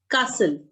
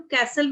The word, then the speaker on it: castle: बच्चे इट्स कासल। कासल, कासल, ठीक है। और अमेरिकन इंग्लिश ਦੇ ਵਿੱਚ ਇਹਨੂੰ ਕੈਸਲ ਵੀ ਬੋਲਦੇ ਆ, ਬਟ ਕਾਸਲ ਇਜ਼ the correct pronunciation.